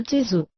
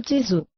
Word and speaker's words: Tzu: Por exemplo, a sílaba final Tzu ou Tze é extremamente difícil de pronunciar-se. O som que dela mais se aproxima é TS, mas é impossível figurar-lhe com letras inglesas o som verdadeiro.